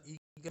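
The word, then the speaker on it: Aegle: ईगल देखो आप AEGL इसकी स्पेलिंग है।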